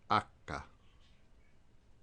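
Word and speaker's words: acca: letter G is G the letter H is acha I is e l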